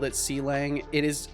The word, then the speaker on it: Clang: when I called it C Lang it is it really is pronounced like a falling metal pipe really so it's pronounced clang I always thought it was seang what a cutie b